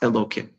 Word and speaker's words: Elokim: And when you see that, you know that even though it's stated Yud Kei Vav Kei, it's pronounced Elokim.